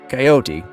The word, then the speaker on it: coyote: One is to keep the e at the end silent and the other involves pronouncing the e which gives the word three syllables.